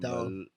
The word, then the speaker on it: Malkoon: AJ Dobson, Jacob Malkoon. How do you say it? Malkoon.